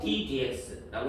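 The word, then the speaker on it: d/dx: 근데 여기서 이제 dx분의 d라고 읽지 않고 이거 읽을 때는 원래 이쪽으로 읽어. 분수처럼 생각해도 되지만 분수는 아닌 거라서 ddx라고 읽는 거야. 분해라는 말은 안 읽어.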